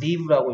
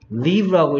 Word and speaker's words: live: 이걸 라이브라고 읽으면 생방송인이라는 뜻이고요. Live라고 읽으면 살다가 되고요. See. Okay, 이겁니다. Live. 예, 라이브라고 읽으면 얘를 라이브라고 읽으면 생방송이란 뜻이고요. Live라고 읽으면 살다란 뜻이고요.